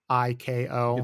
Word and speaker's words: Seiko: By the way, I don't know how to pronounce Seiko or Psycho watch, Seiko. It's Seiko.